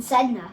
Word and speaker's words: Sedna: It's called a 9337 Sedna.